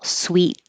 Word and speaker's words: suite: this is candy and sweets the hotel room sound exactly the same the single Suite is the same spelling